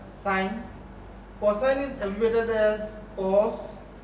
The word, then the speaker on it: sin: Sine is abbreviated as S-I-N, but you still pronounce it as sine.